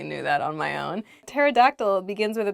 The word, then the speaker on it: pterodactyl: one let's get started the first word is pterodactyl pterodactyl is a dinosaur this was a flying dinosaur from the late Jurassic period I totally knew that on my own pterodactyl begins with a P but we don't say